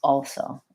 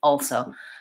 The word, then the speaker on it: also: at do you also do you pronounce the dark L and also or you drop do you drop it sometimes also also I pronounced it also I think also also I think it sounds strange without the L also also but it's it's not very heavily pronounced so I'm not saying also all so or lingering on that very long it's very quick also but it affects the